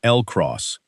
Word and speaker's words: LCROSS: Pronounced by the people who worked on it as LCROSS, which rhymes with across.